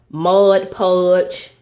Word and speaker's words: Mod Podge: And so on this first shelf, this is all my glues and Mod Podge, M-O-D Podge, not M-O-D-G-E. I usually say it wrong.